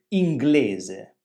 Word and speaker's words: inglese: Quindi quando le consonanti GL sono seguite da una vocale diversa da I, mantengono il loro suono distinto, inglese.